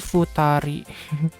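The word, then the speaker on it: 二人: Hitori sama kayak gini dua jadi bukan food abse tapi jadi Futari Emang semuanya tuh eh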